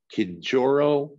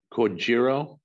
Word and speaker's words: Kojiro: Scott Kijoro Shinobi. Kojiro. I always look at Clive if I think I'm pronouncing it wrong, as I did.